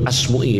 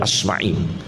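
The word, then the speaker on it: Asma'i: Muin Yahya Bin Main seperti asmui itu jangan sekali-kali baca asmui tidak benar bacanya Yang benar asmai tidak ada dalam sejarah namanya Imam asmu itu gak ada asmai tapi sudah terlanjur banyak yang salah radhiallahu anhum karena banyak yang salah bacanya Jangan dibaca asmui yang benar bacanya apa asmai jangan baca Abu Nawas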